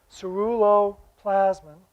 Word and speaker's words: ceruloplasmin: famous swedish physiologist was the first to identify cerullo plasman you should be thinking at that word because you're not going to get out of here until you say it right ceruloplasmin and and then seven years later he wrote